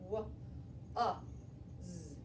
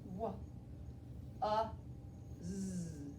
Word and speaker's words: was: So this trick word was, if I tapped it out, it would sound like this. W, z. It sounds like this. W, z. That's how it sounds, but that's not how it's spelled.